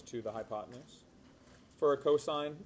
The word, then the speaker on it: cos: Cos is pronounced and stands for cosine.